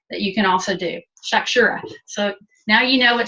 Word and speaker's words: shakshuka: Shakshuka. So now you know what shakshuka is if you hear somebody talking about it. Yeah, I want to know, how do you spell that again? Shakshura?